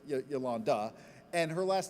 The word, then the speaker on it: Yolanda: otherwise maligned, in that Yolanda is spelled with an O where an A often is. Not Yolando, but Yolanda.